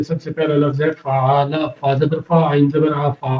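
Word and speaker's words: فَعَلَ: سے پہلا لفظ ہے فعال، فا زبر فا، عین زبر ع، فعال، لام زبر لا، فعال۔ یہاں پر 3 لفظ ہیں فا، عین، لام، اور تینوں کے اوپر زبر دی گئی ہے، اور تینوں کے زبر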